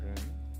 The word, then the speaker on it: 人: Ren. Okay, the tone goes up, so it 国 must be 国人 the second option, not the first.